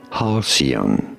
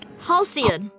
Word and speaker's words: halcyon: We are looking at how to pronounce this word. Learning how do you say it? Halcyon. Halcyon.